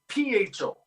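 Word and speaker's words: phở: Well, it's the pho, but PHO, which is funny because generally speaking, they pronounce it pho, F-U-H, picture pho, right?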